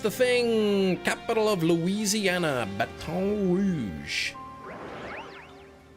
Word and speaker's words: Baton Rouge: Capital of Louisiana, Baton Rouge. Or is it pronounced Batton? I think Batton like rhymes with Batman. The American way. Yes. Not the proper French way.